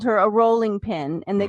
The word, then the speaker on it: Rowling: dinner and I said r o w is pronounced row yeah it is why do we say Rowling and it's that L because growl exactly yeah so JK rolling um she mentioned that